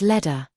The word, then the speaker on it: letter: The word letter is heard as ledder.